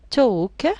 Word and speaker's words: talk: the first one is talk talk has a silent l then lesson lesson has